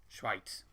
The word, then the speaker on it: Schweiz: he's saying in germany to call them schweiz schweitz that's how you pronounce it what do you have english football